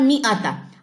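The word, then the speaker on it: مائة: ये जो अलिफ के ऊपर सिफर है ना इस सिफर का यहां पे मतलब है कि ये अलिफ यहां पे साइलेंट है। ये पढ़ा नहीं जाएगा। यानी कि आपने इसको पढ़ना है मी आता।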